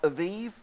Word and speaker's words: Abib: in the month of Abib. In fact, how many of you know what Abib means? Anyone? Well, it can also be pronounced Aviv, but Aviv is when the barley ripens.